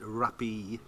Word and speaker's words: Rappee: all over the place i think black rapist is pronounced rappy rappy it smells dark it